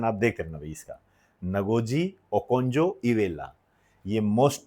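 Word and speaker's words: Ngozi Okonjo-Iweala: यह जो नगोजी ओकोजी और नगोजी ओकजो इवेला नाम प्रोनाउंसिएशन आप देखना भाई इसका नगोजी ओकजो इवेला यह मोस्ट टू मोस्ट इंपोर्टेंट है।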